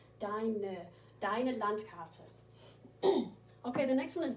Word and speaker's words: deine Landkarte: And make sure you do pronounce that E on the end. We don't ignore E's on the end in German, like we do in English. Deine Landkarte.